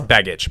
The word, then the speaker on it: Begich: Bajik? For governor? For governor. Okay, so here's the How do deal you to our pronounce it? listener. Do you Well, know? it's Begich.